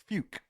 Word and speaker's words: Fuuck: The town's name is Fuke. But it's spelt Fuuck.